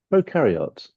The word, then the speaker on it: prokaryote: is pro pro par actually it's karot Pro carot proar how do they say Pro carot Pro carot yeah Pro carot sort of thing yes Pro carot all